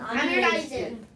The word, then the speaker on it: 아밀레이스: 침 속에 들어있는 아밀레이스. 아밀레이스. 요즘은 아밀라이즈라고 해요. 아니 와이트책에 아밀레이스로 나와 있어. 아니 근데 그 어쩔? 여러분, 지금 정확해. 여러분 옛날에는 이걸 뭐라고 읽었냐면 아밀라제라고 읽었는데요. 요즘은 아밀레이스라고 읽더라고요. 그래요?